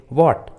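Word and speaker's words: what: जैसे वॉट, when, Y, which, where, देखिए सभी इंग्लिश वर्ड्स में एच डब्ल्यू के बाद आया है, इसलिए एच साइलेंट है, एच का उच्चारण नहीं किया गया है।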